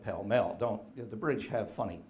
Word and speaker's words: Pall Mall: whole street now well we would pronounce it in North America as pall mall they called it Pell mell don't the bridge have